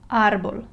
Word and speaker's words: árbol: So if I want to read this word properly, I'll read árbol. Okay, so I'll stress the first syllable. I put more strength and more emphasis on the syllable where the tilde is.